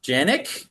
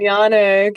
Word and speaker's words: Janek: I'm your host, David Stickle, and today I'm joined by Janick. Yanick. Yes. Oh jeez, I pronounced that horribly.